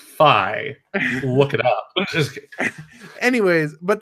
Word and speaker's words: Fi: Feet sucks. Motion control. Like it's just horrible. It's pronounced Fi.